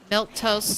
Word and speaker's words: milquetoast: food milk and toast milk toast spelled m i l qu e is an adjective my gosh where why